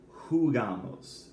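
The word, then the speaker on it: jugamos: it's ju-jee a MOS we don't we don't do a UE here it's who got Mose all right just like jugar it's who gamos all right which means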